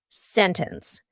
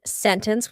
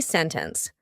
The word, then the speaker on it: sentence: In these words, the T is just gone. So here we have an NT, usually plus a vowel. And you're going to say sentence. You can say sentence with a T. It's fine, but you're going to hear native speakers, when we're speaking quickly, you're going to hear us completely cut out that T sentence.